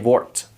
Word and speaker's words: wordt: after the D, but we're going to pronounce it as if there was just a T. So ik word, it is exactly the same as jij wordt. So you don't say word, you don't have to say that. If you say DT, just pronounce it as a T. Just pretend that the D is silent.